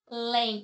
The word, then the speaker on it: Além: Além, eu tenho aqui uma palavra que é dissílaba e a sílaba mais forte é a última, portanto, é uma palavra oxítona.